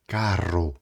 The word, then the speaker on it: carro: Então, toma muito cuidado com a pronúncia quando tiver dois errs.